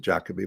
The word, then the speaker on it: Jacoby: Here in Britain, they pronounce it Jacoby, but it's the same word.